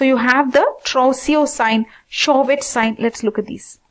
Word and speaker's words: Chvostek: So, you have the Trousseau sign, Chvostek sign. Let's look at these. I think this pronunciation is slightly different. C, if we say C is also included, Chvostek, Chvostek sign.